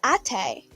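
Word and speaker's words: Até: I'd probably go with Ate.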